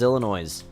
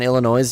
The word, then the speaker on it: Illinois: Pronouncing the S in Illinois? Yeah, I'm pretty sure it's Illinois.